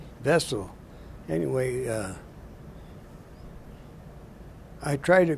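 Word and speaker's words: Wesel: of the Orion River was a town called vessel w e-s-e-l they they pronounce their debuts like with the B vessel anyway uh I tried to cross the Rhine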